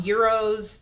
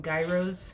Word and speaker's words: gyros: but Euro inspired um Euros if you don't know or sometimes people don't know how they're pronounce and they call them Gyros they're like a Greek